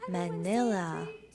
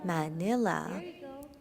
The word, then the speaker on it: Manila: Si vous voyez le nom, la lettre A, c'est comme AH, comme Manila. 3, 2, 1, Manila.